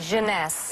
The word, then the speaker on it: Jeunesse: How do you pronounce it? Jeuness.